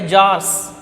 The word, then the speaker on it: Tsar: The Tsarist, the Russia was ruled by Tsars. T is silent there. The Tsar means Russian Empire.